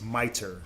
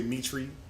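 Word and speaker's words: mitre: everyone says it wrong it's miter m-i-t-r-e it's miter that's how you pronounce that whack English word they don't look like miter right but that's that's how you pronounce that miter is you know sometimes we say Mitri but that's not how you pronounce that that's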